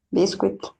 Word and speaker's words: biscuit: Porque la U y la I no suenan UI. Suenan I.